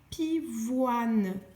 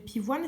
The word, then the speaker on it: pivoine: Mais attention, deuxième colonne, tu vas trouver des mots où tu vois O-I-N, mais cela ne chantera pas ouin. Pourquoi? Parce que parfois, le O-I-N ne sont pas liés. C'est-à-dire que le O-I va marcher avec une syllabe et le N avec une autre syllabe.